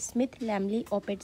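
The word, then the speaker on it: Smith-Lemli-Opitz: of microcephaly is a Smith lamly open syndrome might be there is a pronunciation difference but according to me it is Smith lambly Opeth syndrome so how we can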